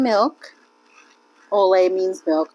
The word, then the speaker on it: au lait: Olay means milk. Olay. Olay. L-A-I-T is how you spell it.